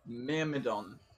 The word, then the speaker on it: Myrmidon: I can't fucking pronounce it. Myrmidon.